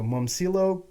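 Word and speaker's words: Momčilo: So, his name was so I checked how to say his name. So, Momcilo Gavrik. He's Momcilo?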